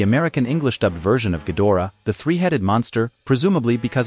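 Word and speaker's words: Ghidorah: sounded more like Hydra in the American dubbed version of invasion of astromonster he was called a king gadora with the O syllable unemphasized he was simply called a gadora in the English dubs for Destroy All Monsters with the go is stressed in the international English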